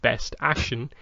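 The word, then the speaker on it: BST AXN: Their new action figure line, BST space AXN, pronounced Best Action.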